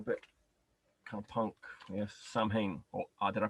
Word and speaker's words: Samhain: Yes, Samhain. Or did I pronounce that correctly? How are you supposed to pronounce it? I believe if you were a true pagan, you would say Soin.